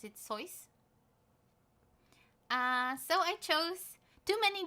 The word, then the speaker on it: Seuss: I think you should pronounce it Seuss.